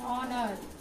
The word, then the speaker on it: honor: here and R, and honor, and ear, H is silent, ear.